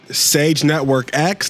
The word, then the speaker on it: Sage Network X: me on Twitter that's sage Network X the X is silent by the way and